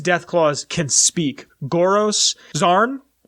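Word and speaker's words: Xarn: claws can speak goros zarn x-a-r-n zarn I'm gonna that's how I'm gonna pronounce it um they can speak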